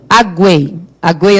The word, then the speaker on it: aguei: Aguei as plantas, por exemplo. Então, esse U tem som, não tem? Aguei. Então, e o que é forte? É o U ou EI? É o EI, né? Aguei.